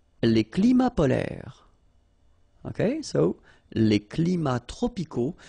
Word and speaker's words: polaires: So same thing here. E and S are not pronounced.